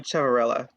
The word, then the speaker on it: Ciavarella: i would butcher terribly of course it's sophia chevrella i would have butchered it yes thank you so much in